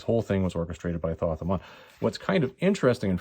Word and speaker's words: Thoth-Amon: I'm pretty sure it's actually Thoth-Amon, but anyways, I'm going to say Thoth-Amon because that's the way it's spelled, and we're just going to go with that.